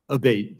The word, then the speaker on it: Abate: ma'am ever uh Mr Abate and am I saying your name properly we've heard it pronounced three different ways today in the hearing a baate senator a baate okay thank you um